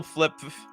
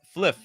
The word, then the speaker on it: fliff: to do that double flip it's it's remember it's Flip or I guess it's fliff pH got to pronounce it correctly it's not